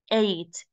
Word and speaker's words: ate: in the present but in the past it's pronounced as eight you know the number eight it is the same pronunciation okay eight as and